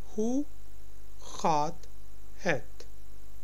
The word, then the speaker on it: Hoe gaat het: Hoe gaat het? G is pronounced as ga in Dutch. Hoe gaat het?